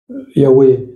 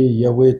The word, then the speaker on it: Yahweh: fois imprononçable, parce que quand vous voyez écrit Yahweh tétragramme, vous devez prononcer Adonai, dire le Seigneur.